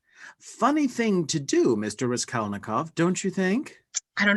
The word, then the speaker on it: Raskolnikov: Rodion Romanovich Raskolnikov. Ah, what fun that is to say. That's the correct pronunciation, correct?